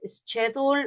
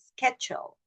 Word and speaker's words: schedule: Remember that the pronunciation is not schedule or something like that, it's schedule. Sketch. It sounds like a Skechers. And all of you know how to pronounce a Skechers, yes? So it's like a Skechers, but with a different ending.